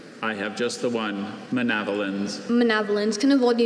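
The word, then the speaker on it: manavelins: Sometimes as a speller, you memorize things basically, okay, it sounds like javelins. I'll spell it that way with that schwa letter.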